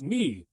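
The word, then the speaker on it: nie: And for no, it's knee. This one sounds just like the English word knee.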